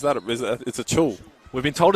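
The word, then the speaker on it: Acuil: I just say a cool, but it's a chul.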